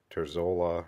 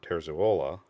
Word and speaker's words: Terzuola: an acceptable pronunciation but I know that I saw him in a video introducing himself and he said his name was Robert terzuola so that's I'm trying to say it the same way he said it